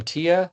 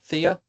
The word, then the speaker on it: Thea: Tia. Thea. I want to make sure. How do you say? Oh, thanks. It's it's the th is like thea.